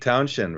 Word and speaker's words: Townshend: and then in England, it's just Send. You don't when you say Shend, you don't add an H. It's just you pronounce it like Townshend, Hmm.